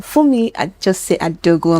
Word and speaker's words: Funmi Ajose-Adeogun: Funmi Ajose-Adeogun. Am I correct with the pronunciation?